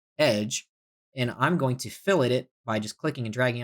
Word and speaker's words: fillet: on Billet yes no I'm not pronouncing It Wrong by the way it's not filet it's fill it and remember this is